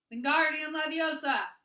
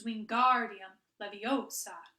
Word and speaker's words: Wingardium Leviosa: "Wingardium Leviosa!" he shouted, waving his long arm like a windmill. "You're saying it wrong," Harry heard Hermione snap. "It's Wingardium Leviosa. Make the guard nice and long."